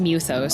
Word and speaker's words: mythos: Oh, it's pronounced Muthos.